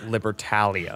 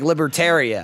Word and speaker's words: Libertalia: By the way, guys, it's pronounced libertalia. Yeah. Oh, I saw that. You got all the for making us say it wrong, too. Yeah, cuz you were like, "Libertaria," and we was like,